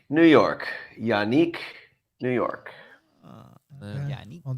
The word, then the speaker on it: Ngakoue: It is Yannick, confirmed by JJ Stankovitz. JJ Stankovitz, the PA voice. It's just like an anchorman. Yannick, New York.